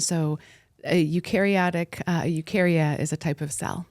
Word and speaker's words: Eukarya: ahead and let's get back to the name ukaria yeah I'm pronouncing it right yeah there's other names but